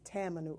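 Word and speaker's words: tamanu: to add five to ten drops of this Tammany oil it's spelled ta ma nu oil this is your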